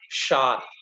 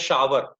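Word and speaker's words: shower: तो उसको हम क्या बोलते हैं, शार. कुछ लोग बोलते हैं शावर. तो शावर मत बोलिएगा, दैट्स शार.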